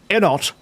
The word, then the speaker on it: Enot: Not as good as Enot. Micro's saying that the way you pronounce Enot, is it weird that you pronounce Enot with a silent T like depot?